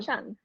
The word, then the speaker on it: Chung: And just the correct pronunciation of your name, Madelyn Chung. Chung.